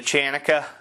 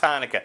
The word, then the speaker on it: Hanukkah: know uh comedy subjective i know it's pronounced hanukkah i love mispronouncing things